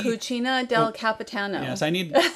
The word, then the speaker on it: Cucina del Capitano: to take a little look in the uh cocina d cucina del capitano yes i need correct pronunciation i believe that's correct very good to